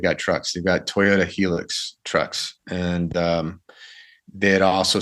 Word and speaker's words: Hilux: The Helix trucks, I believe it's pronounced Helix, or Hilux, right? Anyway, I've heard it both ways. I read it as Helix, but I had a 4x4 guest on that said Hilux.